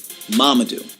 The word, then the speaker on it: Mamadou: My name is Mamadou, not Armadillo, not Marmaduke, not Mumu, not Mumam, Mamadou.